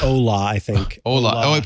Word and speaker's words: Hola: It's like Ola, I think. Hola. Oh, it probably is Ola, not Hola. Yeah, but the H is silent in Spanish anyway.